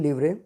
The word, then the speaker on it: livre: यहाँ पर, वहाँ पर लिवरे है। सो प्रोनाउंसिएशन इसकी फ्रेंच के अकॉर्डिंग है, लास्ट वाला एस इसमें नहीं रहेगा, तो लिवरे।